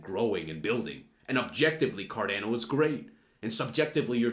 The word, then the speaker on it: Cardano: Yes, I know it's pronounced Cardano, but, you know, I'm going to do what I want to do, you know?